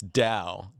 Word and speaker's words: Tao: today and you said to pronounce it properly it's Dao taoism is the ancient